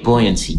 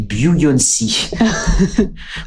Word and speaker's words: buoyancy: So if you want me to pronounce that with a French accent, I guess that most French people would say buoyancy, which is actually a singer.